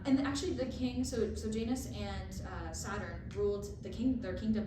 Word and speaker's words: Janus: the time it was ruled by Janus, is how it's pronounced online.